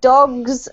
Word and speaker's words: dogs: Now when the S comes on, what happens is that the S on the end of the G sounds like a Z, so it's dogs.